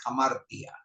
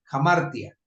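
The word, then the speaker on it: ἁμαρτία: traducida como pecado en el texto griego es hamartia jamar se se pronuncia pero es hamartia h a m a r t y a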